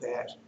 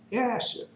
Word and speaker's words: Jasher: that I know that there's no J in the Hebrew alphabet back then. Now, they might have a J now, but back then it did. And so that's why I pronounce it Jasher.